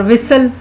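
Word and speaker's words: whistle: इसमें जो टी है वो साइलेंट होता है, इसको खामोश टी भी कहते हैं, क्योंकि ये लिखने में लिखा जाता है लेकिन बोलने में बोला नहीं जाता।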